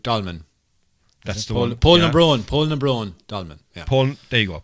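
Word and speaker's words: Poulnabrone: Yeah, he's been to that unpronounceable dolmen that I can never do, Pulafalucan, or whatever the thing is called, Pulabon. Polnadrone dolmen. That's the one. Polnabron dolmen.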